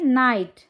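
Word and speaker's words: night: तो जब आप उन्हें ये बता देंगे कि IGH एक ट्राइग्राफ है और इसको आई बोलते हैं, तो बच्चे आराम से पढ़ पाएंगे नाइट।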